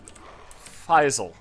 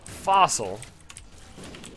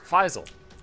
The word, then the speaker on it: Faisal: Faisal. I believe that's the way to pronounce it. But I learned it as Fossil, and I called him Fossil, and then somebody was like, hey, no, it's Faisal, and I was like,